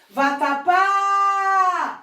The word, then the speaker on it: vatapá: Vatapá! Viu? A última sílaba foi a mais longa, pá.